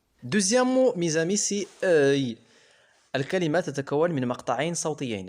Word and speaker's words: œil: Œil. Deuxième mot, mes amis, c'est œil. الكلمة تتكون من مقطعين صوتيين. الأول E se prononce comme le mot heure.